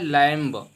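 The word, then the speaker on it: limb: एम के बाद अगर बी आता है तो बी साइलेंट हो जाएगा, पढ़ेंगे क्रम, क्रम मीन्स होता है टुकड़ा। इसके बाद आता है लैम्ब, यहाँ पे देख पाएंगे लैम्ब लिखा है, तो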